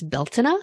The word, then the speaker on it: Beltane: celebration, and that is Beltane. You may also hear it pronounced as Beltana if you are Irish.